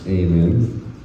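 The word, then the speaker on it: Eamon: My name's Aiman. E A M O N. It's a Irish name, which is why it's spelled like that.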